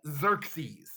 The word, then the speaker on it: Xerxes: king is this guy xerxes look at those x's and e's and you say his name with a z sound even though it starts with an x like xerox or xylophone xerxes so he is the